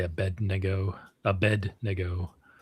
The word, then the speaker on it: Abednego: Bonus points for pronouncing Abednego correctly, Curts. Well, I'm using the American evangelical pronunciation and I'm sure it's a negot. Yeah, I say Abednego.